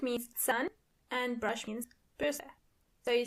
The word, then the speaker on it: Bürste: And remember, you don't pronounce R as R, but more like R. So the word is die Bürste.